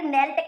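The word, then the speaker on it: knelt: अब अगला प्रश्न है, the silent letter in the word नेल्ट इज। नेल्ट में क्या है, इसमें है के। इसमें हम के का उच्चारण नहीं कर रहे, इसलिए ये साइलेंट है।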